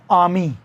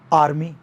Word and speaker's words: army: जैसे मैं आपको एग्जांपल दूं, ब्रिटिश बोलेगा ARMY को आर्मी, लेकिन अमेरिकन क्या बोलेगा, आर्मी।